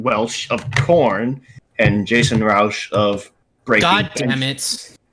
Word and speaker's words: Rauch: of Korn and Jasen Rauch of Breaking. God damn it. Yeah. Oh. Rauch of the German pronunciation, if that's what we're going by. Either it's Rauch or Rauch. This Rauch means smoke in German.